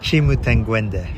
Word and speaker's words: Chimutengwende: Chimuangende.